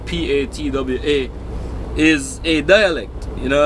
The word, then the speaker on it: Patois: uh it's spelt piti OS but it's actually pronounced PA TWA is a dialect you know I mean it's